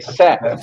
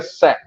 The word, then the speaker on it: Say: verbo dizer em inglês, mas não é say, é sé, porque se trata de um economista francês do século XIX, então se pronuncia sé, embora que não seja igual à Praça da Sé.